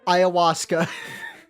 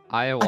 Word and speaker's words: ayahuasca: I'm looking up how to pronounce ayahuasca. Ayahuasca.